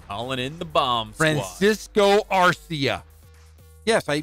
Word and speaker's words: Francisco Arcia: Francisco Arcia. Yes, I pronounced it correctly.